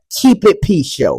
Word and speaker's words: Keep It P: He's steady saying it wrong. Yeah. Keep it. He's like, yeah. Oh no, man. I'm saying, keep it P show.